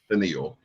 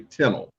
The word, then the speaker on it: Tennille: It's spelled exactly like Tennille, so a lot of people pronounce it Tennille, but it's actually Tennille.